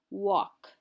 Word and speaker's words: walk: is our last one you'll notice there's a silent l walk we walk when we